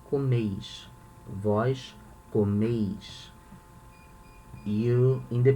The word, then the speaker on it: comeis: Vós comeis. Notice here we say comes, okay? The strong syllable, the strongest syllable is the first comes. Here we say comeis. The strongest syllable is the last one.